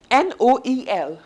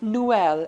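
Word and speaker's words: Noël: So it will be like Noel and not Noel. Two vowels are coming together. We are putting exotema over here to tell that these two are to be pronounced separately.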